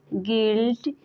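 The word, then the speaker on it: guilt: word नहीं पढ़ते हैं वैसे ही गेस्ट गेस गिल्ट गिटार इन सारे वर्ड्स में जी के बाद यू है और यू के बाद कोई बबल्स आया है इन सारे वर्ड्स में यू साइलेंट है गाइस अगर वीडियो अच्छा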